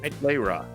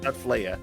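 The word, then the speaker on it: Flayrah: Or how do you pronounce it? Flayra. Flayra. Yeah, Flayra. Not Flaya.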